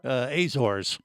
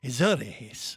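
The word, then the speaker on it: Azores: she's in the aoris did I say it right Katherine you did did I did yes good job points for you azors for us us folks but she told me right before they said isor and then you got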